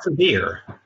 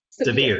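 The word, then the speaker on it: Sevier: His latest book is John Sever. Did I pronounce that correct, Gordon? Sever? John Sever. Sever.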